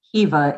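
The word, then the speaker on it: Caoimhe: because to him it's normal and so it's pronounced kiva it is spelled c-a-o-i-m-h-e and um if our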